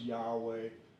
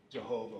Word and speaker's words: Yahweh: It's pronounced Yahweh, but like I said, I'm going to talk some more about it.